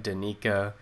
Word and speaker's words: Danika: then like you know the whole uh the pronunciation that you do like d-a-h-n-e-e dash k-a-h yeah but i uh yeah that's it twice apologies for that but danika thank you for coming